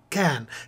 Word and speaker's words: Cannes: Not Cannes, it's pronounced Cannes.